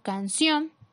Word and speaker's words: canción: Ejemplo, canción. La sílaba con mayor fuerza es la última sílaba y cumple con la regla porque termina en N, por lo tanto colocamos tilde.